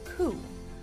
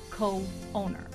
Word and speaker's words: co-owner: Now, if we didn't use a hyphen here, we will pronounce that coup, but that's not what we mean. We put that hyphen there that will eliminate any confusion of its pronunciation, and we would say co-owner.